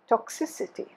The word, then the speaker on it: toxicity: these words now toxic toxic toxicity stress has shifted toxicity but toxic has become